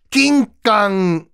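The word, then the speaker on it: 金柑: 치면서 거의 빠가야로 귤 낑깡 야마데스이 귤 대가리야 낑깡도 여러분 일본어에요 금강이라는 것을 일본식 발음하면 낑깡 이에요 그러니까 귤 대가리야 귤 대가리야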